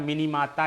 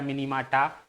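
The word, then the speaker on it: Minamata: क्या हो जाता है, मिनीमाता या मिनीमाटा, आपको प्रोनाउंसिएशन जैसा भी लिखा मिले, है ना, टाइपिस्ट के ऊपर डिपेंड करता है।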